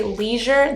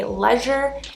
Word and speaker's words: leisure: SCedule - SHedule next in America we say leisure they say lezz-ure and we say v-I-tamins